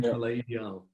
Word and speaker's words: Palais Ideal: Which we did, and that became Palais Ideal.